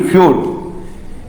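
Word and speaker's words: feud: ई यू का उच्चारण क्या होगा? यू ही निकलेगा। एफ यू डी फ्यूड।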